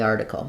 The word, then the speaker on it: article: of the r the article same thing as I'm linking from this the to this R I have a little Y sound in there the r and then for article um first syllable stress article um this T